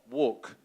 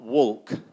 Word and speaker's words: walk: do you say it which letter is silent the l walk so we have a sometimes a problem with walk and work but it's not walk it's walk and uh can you